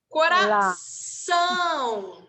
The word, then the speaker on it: coração: Toda vez que vocês virem algum acento na palavra, geralmente é a sílaba mais forte. Então, vocês têm que pronunciar ela com mais intensidade. Então, aqui a gente tem o tio. Então, vai ser hortelã, tá? Coração, tá? Óleo, tá? Então, sempre tentem fazer com